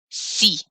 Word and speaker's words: si: assume a negative but the answer is positive c is how you say yes so that's kind